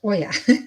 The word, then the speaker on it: Oya: And Oya is pronounced Oya.